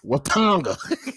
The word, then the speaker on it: Watonga: Just not Wakanda, Watonga. That's just how it's pronounced.